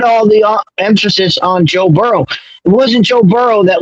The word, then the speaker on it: Burrow: I don't see how the Bengals are at fault for Burrows getting hurt. And it's Burrow. Please spell it correctly.